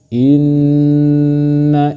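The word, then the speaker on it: إنّ: Contohnya inna inna seperti itu. Inna Ibrahim bukan dibaca inna itu salah tapi yang benar inna Ibrahim.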